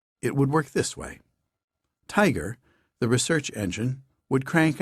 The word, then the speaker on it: TIGR: Institute for genomic research tigr pronounced tiger to be headed by